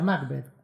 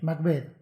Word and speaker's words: Macbeth: en macbeth vio y pronuncia macbeth con el acento en la Borges lo corrige macbeth y burlonamente observa todos los alumnos cometen el mismo error Borges ya antes de